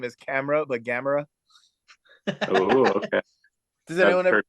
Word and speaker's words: Gamarra: I can never pronounce his last name. It's the last one. Whatever. Gamarra.